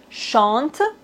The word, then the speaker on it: chante: Par exemple, chante. Ici, on ne doit pas prononcer le E final. Et maintenant, chanter. Ici, on doit prononcer le E accent aigu.